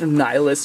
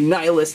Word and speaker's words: Nillious: to team up against nihilus or nilius whatever you would like to say I for some reason like to say nihilus like a nihilist but I believe it's more nilius you guys can always